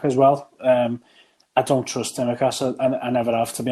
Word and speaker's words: Tsimikas: Timiskas, is it? Tsimikas, yeah.